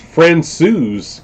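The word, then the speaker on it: Francouz: pretty sharp looking uh pronounced friend sues good to know uh so what was his name tyler no pavel francius uh big al definitely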